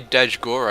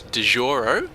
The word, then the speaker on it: Dajgoro: our red teren and his name is dejoro I don't it can't be Dash Goro because that just sounds gay so we're gonna say it's dejoro with a bit of a silent G and up the top